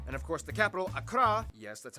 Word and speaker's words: Accra: ho and tamale and of course the capital akra yes that's how you pronounce it akra located in the southeast along the coast the